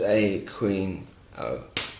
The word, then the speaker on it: Aquino: Understanding that he pronounces a queen O.